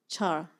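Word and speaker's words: चर: It's pronounced char. It's spelled the same way, but it's a root word that means to move.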